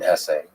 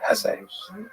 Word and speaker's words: Hesse: It was written by Hermann Hesse, and by the way, please allow me this pronunciation of his last name. I've heard some people say Hess, but my whole life I've always said Hesse.